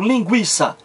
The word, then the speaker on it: linguiça: O trema estava lá no U, depois de que o G, seguido de E e I, pronunciado hiátono. Por exemplo, linguiça.